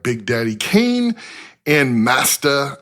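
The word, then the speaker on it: Masta Ace: And uh he was famous for promoting other acts like Big Daddy Kain and Masta. I'm saying it that way because it's spelled M A S T Ace. Master Ace.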